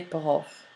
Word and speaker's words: profs: This s, however, is not pronounced. It is the article le or the that lets you know the noun is plural. Un prof, des profs. So the pronunciation of the word prof is the same, but you have the marker of the plural, des profs.